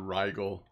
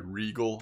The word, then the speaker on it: Regal: a direct comparison between the rigel sorry Regal I think would be the right way to say it and the tiger C30